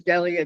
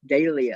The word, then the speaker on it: Delia: I thought her name was Delia too, and she put the pronunciation as Dahlia.